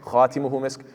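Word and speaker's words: خَاتِمُهُ: Instead of khitamuhu misk, it's khatimuhu misk.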